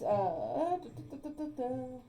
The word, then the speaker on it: Xenaeus: how do you spell it? Yeah. It's Zanenas. Zanenis.